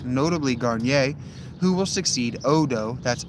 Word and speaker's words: Odo: Odo, that's O D O, not O T O. And some of them hear and see the procession before it disappears. It might actually be pronounced Otto.